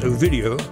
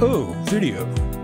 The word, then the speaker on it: OVIDeo: little EO to tell the name of pronounced ovidio or o video you can see who